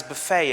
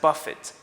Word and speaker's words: buffet: The word buffet is not pronounced as buffet anymore. It's pronounced as buffet because it's expressing a different meaning now.